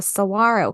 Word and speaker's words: saguaro: we're talking about the saguaro cactus yeah and first thing is pronounced Saguaro and the word Cactus